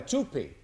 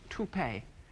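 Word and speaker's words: toupee: One time I even wear a tupi. I was very embarrassed. I I believe the word is pronounced tupe.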